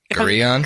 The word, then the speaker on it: Gorillon: Gorillon? Gorillon, yes. That's how you say it.